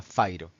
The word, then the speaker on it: fajro: Esa particularidad ya la quise escribir y eso es el elemento fairo, que se escribe como una J, así como fajro, pero se pronuncia fairo.